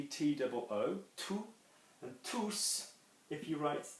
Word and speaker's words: tous: going to be pronouncing, you are going to be pronouncing the S. Okay, so bonjour à tous.